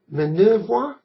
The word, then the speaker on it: Minervois: Minervois, I think that's pronounced.